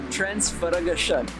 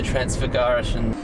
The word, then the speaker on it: Transfăgărășan: Trying to learn how to pronounce the highway that we're going to do. Transfagarasan. Let's go drive the Transfagarasan.